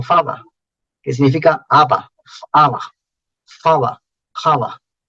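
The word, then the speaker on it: haba: Ya se vuelve muda la H. Aba, pero con H todavía. Es una H muda, ¿no? ¿Para qué pones una H muda? ¿Qué sentido tiene la H muda si no se pronuncia?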